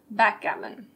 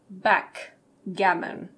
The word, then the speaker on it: backgammon: Backgammon. Be careful of the pronunciation. We don't say backgammon. The K flows into the G, so we say backgammon.